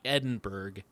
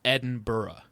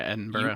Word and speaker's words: Edinburgh: made sure to tell you it is not Edinburg, it's Edinburgh. Yeah, Edinburgh. You have to pronounce it Edinburgh or they'll, you know, give you a funny look.